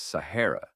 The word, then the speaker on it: Sahara: The name, which locals pronounced as Sahara, means the largest.